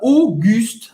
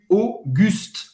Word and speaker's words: Auguste: E o artista Auguste, A-U em francês, um som do O. O U agora você sabe, faz a boca do U e fala I. Auguste. Auguste. Não pronunciar o E no final.